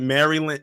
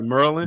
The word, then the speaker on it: Maryland: this way this is that's how the black people in Maryland say Maryland now if you come like were you dealing with the with the PC people or the others they'll actually pronounce it Maryland a Maryland but man we'd be like Merlin Merlin Merlin looks like whenever I